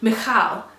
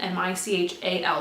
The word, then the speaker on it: Michal: What happens about midway through, I think it's verse 16, and Michal, it's spelled Michael, M-I-C-H-A-L, it's female version, Michal.